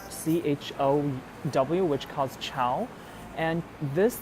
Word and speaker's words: CHOW: So right now they're on this very cool exhibition called CHOW, which calls Chow, and this character means fry in Chinese. So this is basically the Cantonese pronunciation of this word.